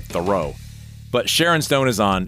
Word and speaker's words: Theroux: It doesn't sound like it looks on paper. It's Louis Theroux, I believe is how you say his name. Mm-hmm. It looks like Theroux.